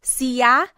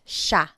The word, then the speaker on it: siya: And again, just to point out the pronunciation, it looks like it should be pronounced siya, but it's usually pronounced siya, siya.